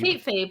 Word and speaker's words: Kate Fabe: Kate Fabe, like kayfabe.